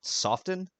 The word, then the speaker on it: soften: Soften? Didn't know you actually pronounced the T in there. I've never run into anybody who's actually pronounced the T like a hard T.